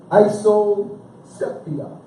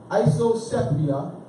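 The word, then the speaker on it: isopsephy: Isoceptia. Isosepia. I got the pronunciation down right.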